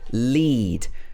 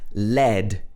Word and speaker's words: lead: So here it's pronounced lead. But then this word can also be pronounced lead.